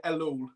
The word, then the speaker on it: Ellul: your last name uh I pronounce it alone but everyone pronounces it differently so how many of you guys want to go no problem we got John de Lowell in uh in the